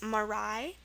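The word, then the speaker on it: marae: looking at those um five words first one that use a e for the I sound is marai m a r a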